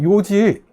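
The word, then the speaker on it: 楊枝: 라고 발음합니다 요직 조금 전에 이쑤시게 있었죠 있으시길 요지 라고 읽는다 고 했죠 그 요지가 바로 양지 입니다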